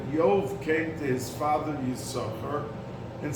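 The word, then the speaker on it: יששכר: every time after that does not pronounce his name Yisachar like when he was born, but it's pronounced Yisachar, just one sin or shin, as the letter is.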